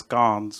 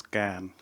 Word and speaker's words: Cannes: And the funny bit is, I was pronouncing it as Cannes, but then I learned that it is Can.